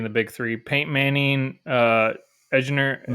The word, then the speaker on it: Edgerrin: Peyton Manning, Edgerrin, how do you say his name? James and Marvin Harrison, yeah. Edgerrin James.